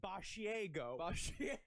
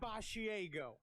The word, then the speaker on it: Basiago: ways and he goes it's spelled as basiago it's spelled like a mixture of barf and asiago the cheese but it is uh but it's he says it bachiego and he goes by andy it's andy boshiego it sounds like he's batting third for the yankees but he forgot his